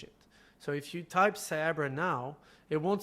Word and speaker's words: Cyabra: But yeah, it's actually just Cyber and Abracadabra, as in, because it's like ancient Aramaic, Abracadabra.